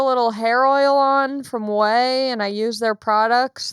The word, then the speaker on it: Ouai: say really quickly that i love whey hair care products it's spelled spell quirky spelled a little los angeles if you know what i mean it's spelled a different way than you would expect it's spelled o oh